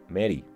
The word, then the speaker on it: Mari: También veía mentalmente, al menos, a mi abuelo paterno y a mi novia María Francisca, a quien llamo Mari, aunque su nombre lo pronuncio Mary, que me estarían viendo